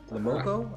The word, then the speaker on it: Le Moko: eat food Pepe lamoko lamoko I think is how you pronounce it it's a French film though um yeah but yeah